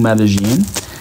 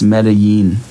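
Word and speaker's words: Medellín: Also, I gotta stop saying Medellin because that's not how you say it. I've been saying Medellin and that's not right. It's Medellin. Medellin.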